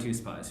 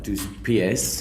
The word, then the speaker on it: Dos Pies: What's the story behind Two Spies? Who's that for? Is that how you say it? So I'll help you with that one. Dos pies. Two Pies.